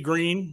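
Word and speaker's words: Greene: uh you know Mt Mt green which by the way rhymes with Thorazine Lauren bobert Crawford Holly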